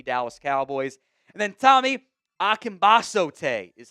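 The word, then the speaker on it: Akingbesote: And then Tommy Ambasote is how you pronounce that one.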